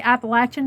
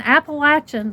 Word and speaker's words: Appalachian: Heritage that I have I always say appalachin because that's the correct way to say it that's where we were raised and appalachin the word appalachin comes